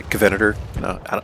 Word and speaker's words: Covenanter: Today we're going to be looking at the Covenanter. I believe I pronounced this vehicle correctly this time, like Covenant and then add ER, right?